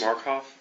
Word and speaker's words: Markoff: Would you pronounce and spell your last name, please? Markoff, M-A-R-K-O-F-F.